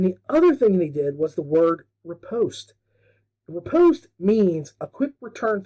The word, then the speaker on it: riposte: and he pronounces it like it was rhyming with riposte. I kept thinking of like pasta. At the end, I wanted some spaghetti and, some bow ties. It's not riposte, it's riposte.